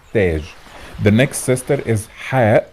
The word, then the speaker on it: Taj: أمثلة, we said Gabal means mountain, or Tag means crown. In Fosha, pronounced Jabal and Taj.